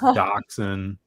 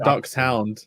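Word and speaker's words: dachshund: it by the way it's pronounced Doxon for some reason Doon okay D sorry you guys should know it's just duckon it's not duck Hound it's just dcen yeah the D I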